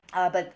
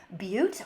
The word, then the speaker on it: butte: fall over and die but we are on a butte or as I like to call it a but just because I like to annoy Dave and pronounce things incorrectly on purpose sometimes but basically we